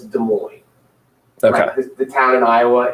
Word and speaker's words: Des Moines: she said it i was like no it's des moines okay the town in iowa it's des moines it's not desmond or whatever it looks like yeah and but